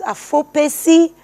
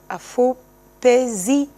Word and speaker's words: Afopezi: But at the same time, I'm going to try with the pronunciation. It is Afopezi. Afopezi. Yeah, Afopezi.